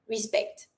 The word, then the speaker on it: respect: Do not pronounce the C. Just the S sound.